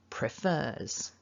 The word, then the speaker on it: prefers: Now the second syllable is the stressed syllable.